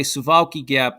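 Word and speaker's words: Suwałki Gap: Okay, Suwalki Gap. That's how you say it in Polish.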